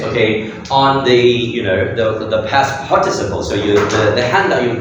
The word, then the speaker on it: participle: They are past participle. Okay, yeah, very good. Remember this past participle. Participle. Okay, yeah, the stress over there.